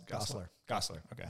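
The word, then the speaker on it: Gosselaar: Gosler. Okay. Yeah. So it's easier to say than it looks.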